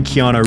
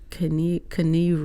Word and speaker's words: Keanu: Although thankfully Keanu Reeves is the perfect balance between...